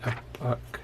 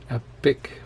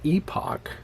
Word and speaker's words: epoch: At the beginning of each epoch, and I pronounce that the American way, epoch, not epic, which is a story usually about heroes and their adventures. And that's different from the British pronunciation, epoch.